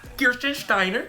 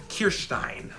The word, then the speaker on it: Kirstein: gave me was Jean Kiren Steiner I just want to say it like that it's Jean kirstein some of you didn't even know it probably was pronounced like that I didn't either I